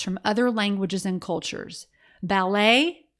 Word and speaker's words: ballet: other languages and cultures ballet has a silent t on the end based on the rules of French the CH in chord